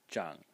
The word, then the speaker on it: 長: CH in the second tone and the second pronunciation is Jang J in the third tone and so two